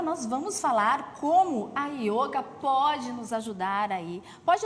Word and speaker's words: yoga: milhares de anos atrás não existe a pronúncia do o aberto então a única opção na verdade possível é yoga com o fechado mesmo tanto que em todos